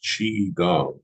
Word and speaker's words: Qigong: Chiang pronounced chi gang is an ancient system of